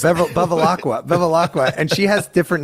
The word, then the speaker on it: Bevilacqua: How do you pronounce that? Bevilacqua.